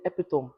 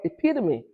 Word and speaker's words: epitome: Another good example is epitome. In Nigeria, we say epitome. In America, it's called epitome.